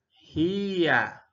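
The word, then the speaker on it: هيَ: Entonces, ja, ya, se pronuncia ji. Más el fatha arriba, jia.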